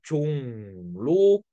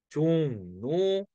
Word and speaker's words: 종로: 니은으로 바뀌어서 강릉, 종로 이렇게 발음하는 거죠.